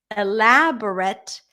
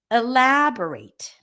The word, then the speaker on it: elaborate: can you please elaborate the stress is in the same position but the ending sounded a little different so this is a slight pronunciation lesson in addition to the stress lesson elaborate elaborate certificate that's the most